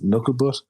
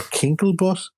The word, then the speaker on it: Knucklebutt: You can find me on all platforms as Knucklebutt, but sometimes it's spelled without the U in Knuckle, and some people think I'm called Kinklebutt.